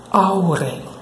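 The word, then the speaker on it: hour: Bom, essa palavra se pronuncia dessa forma. Aure, aure, aure, aure, aure, aure, aure.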